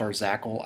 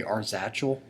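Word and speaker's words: Arzachel: this is our zackle i'm pretty sure it's pronounced our zackle i used to say arsatchel but um it actually refers to like star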